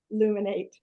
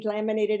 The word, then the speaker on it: Luminate: say it right because I've said it wrong many times as a teacher um we laminated every day and so I keep calling it laminate so I'm sorry but